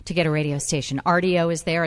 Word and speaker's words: Rdio: And also listen to us on RDO, which is an app you can download for free, RDO, and also the WABC radio app.